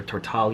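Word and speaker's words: Tortall: is set in her tortal universe thank you tamara for tammy for for posting videos online that way i know how your stuff is actually pronounced and for years i've been calling it turtle so it is set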